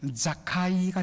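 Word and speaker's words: זכאי: 원래 이 이름을 히브리식으로 발음하면 자카이가 됩니다.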